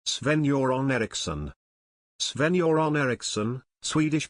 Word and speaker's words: Eriksson: soron Eriksson soron Ericson Swedish pronunciation the 5th of February 1948 the 26th